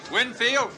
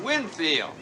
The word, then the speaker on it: Winfield: Fred Winfield Max Whitefield Winfield Winfield we always pronounce it Windfield I'm Windfield this